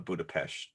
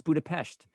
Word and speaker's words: Budapest: or budapest right why what is up with the mispronunciation that she keeps calling a budapesh well maybe that is the right pronunciation and we pronounce it wrong because she insists that you know because the uh uh rick mason says budapest no it's budapest yeah so that's probably the way that you really should pronounce it but she makes